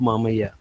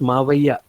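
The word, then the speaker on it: మావయ్య: held together by Mahbub Mamaya. And uh, my side of the Telugu states, coastal Andhra, it's pronounced Mavaya with a Va.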